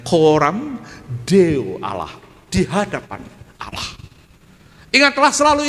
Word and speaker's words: coram Deo: C-O-R-A-M. Coram, bacanya jangan coram ya, bacanya coram Deo Allah, di hadapan Allah.